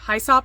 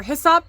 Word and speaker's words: Hyssop: But I really do like Hyssop or Hyssop, depending on how you pronounce it, either or.